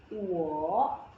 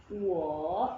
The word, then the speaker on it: 我: Nah, kalau nada ketiga ketemu nada ketiga, itu akan berubah ketika diucapkan. Jadi berubah jadi nada kedua baru nada ketiga.